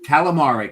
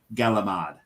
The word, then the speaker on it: calamari: there like Skil so calamari calamari in this area is pronounced galamad it's gal it's it's